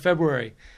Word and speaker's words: February: is not working yes according to the dictionary it is pronounced both ways February and February so I'll just go